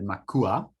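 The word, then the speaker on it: macuá: drinks at Gran Pacifica, the Makua. I hope I pronounced it properly. How do you pronounce it, Gio? Makwa.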